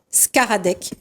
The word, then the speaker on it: Szkaradek: la joie donc d'accueillir, alors attention pour la prononciation, Léa Skaradek. Oui. Bravo. Du Labo Théâtre. Bonsoir Léa, comment ça va? Ça va très bien. Alors, donc, Léa Skaradek, donc comédienne.